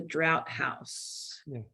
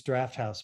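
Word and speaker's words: Drafthouse: Saturday October 22nd at the drought house technically it's Draft House but you wouldn't know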